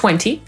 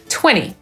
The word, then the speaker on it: twenty: Podobnie będzie ze słowem 20, które przecież znamy jako 20, ale Amerykanin równie dobrze może powiedzieć 20.